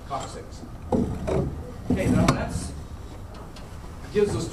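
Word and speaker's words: coccyx: back is the coxics remember to pronounce the word six on the end of that Co six okay now that's gives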